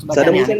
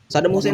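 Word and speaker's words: Saddam Hussein: gua tanya mendingan mendingan benerin dulu Sadam Huseinnya bacanya Sadam Husein dulu benerin jangan ke mana-mana ayo Saddam Husin dulu Husin dulu benerin nah terus nih baca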